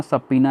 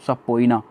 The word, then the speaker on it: subpoena: इसका प्रोनाउंसिएशन ध्यान रखना, सबपीना है, सबपीना, नॉट सबपोइना, सबपीना।